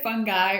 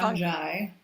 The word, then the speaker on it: fungi: Is it fungi or You can say fungi or fun, fungi.